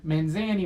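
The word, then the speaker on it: Mazany: gina was a knee Mazzini man's a knee we always pronounced that around here in a decision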